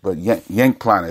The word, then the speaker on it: Cenk Planer: But Cenk Planer is actually how you pronounce his name.